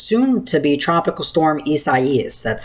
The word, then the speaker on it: Isaias: This is the second video update today, discussing potential Tropical Cyclone 9, which is soon to be Tropical Storm Isaias. That's how you pronounced it.